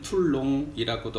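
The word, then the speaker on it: Toulon: 툴론 퍼터는 이제는 한국 분들이 아직 많은 분들은 생소하지만 어떤 분들은 툴롱이라고도 하고 어떤 분들은 툴론. 실제 이름은 발음은 이제 툴론, 란이라고 하고요.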